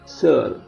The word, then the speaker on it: seul: Ini juga L-nya dibunyikan, seul.